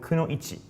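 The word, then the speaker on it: くノ一: So female ninja is called kuno ichi, which is ku no ichi. Katakana ku, katakana no, and the kanji for one.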